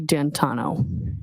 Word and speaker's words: D'Antuono: And when you went outside, you learned that he had come and his friend, is it Ricky D'Antuono? How do you pronounce the name? It's Ricky D'Antano. D'Antano.